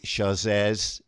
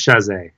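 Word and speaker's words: Chasez: But the film features Lance Bass, JC Chazez. Is that the right pronunciation? I believe it's Chazé. Chazé. That's what I thought. Yeah. But I said Chazez, just, I don't know. I've heard it both ways, so it's hard.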